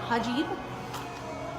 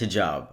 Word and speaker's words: hijab: because those two correlate also it's pronounced hijab i just thought it was really funny she said it the other way around hajib no it's